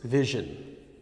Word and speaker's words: vision: occasion persuasion persuasion okay this sound doesn't quite exist in Spanish except in some dialects of Spanish there's a city in